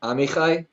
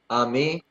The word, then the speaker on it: Amai: only messaged yeah so it's pronounced Amai like Amai Amai okay Amai why do you